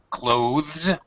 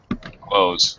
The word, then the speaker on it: clothes: pronounce the voice thth clothes or or you can pronounce it just like closeth close the door it's perfectly okay uh uh most native speakers actually say it like that clothes I take off my